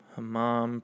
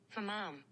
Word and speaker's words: hammam: Hammam pronunciation. Let's see if I was right. Hammam. Fuck yeah, hammam. So it's like you're saying, huh, Mom? What'd you say, Mom? Clean your room, huh, Mom?